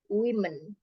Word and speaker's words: women: Kalau ini berubah jadi women.